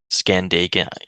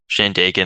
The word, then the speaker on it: Shandaken: to like detour to I can't scan it, Scandaken. I can't pronounce it. Scandaken Brook Lean-To. Oh, the Shandaken. Shandaken, thank you.